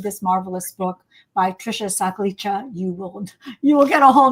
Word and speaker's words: Sakhlecha: But then if you read this marvelous book by Trisha Sakhlecha, you will get a whole new look at it.